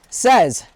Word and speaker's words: SEZ: and they're REV, R-E-V, REV SEZ, S-E-Z. Rhymes with Pez. Yeah, or says, I'm sorry, Zed as in the way the Canadians say it.